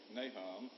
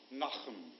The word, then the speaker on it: Nahum: likes to pronounce it most of the Southern folks going to say Nahum and but if you were Jewish it's like knock them so you can clear